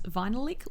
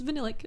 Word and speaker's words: Vinylic: In several earlier videos, I mispronounced it as Vinylic Lip because I always read it like a lick of vinyl, but it's Vinylic.